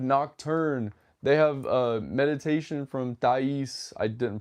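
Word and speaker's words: Thaïs: Like they have Nocturne, they have Meditation from Thais. I didn't pronounce that right. I actually wait, no, it is Meditation from Thais. Thais.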